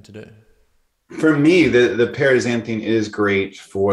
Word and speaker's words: paraxanthine: Paraxanthine.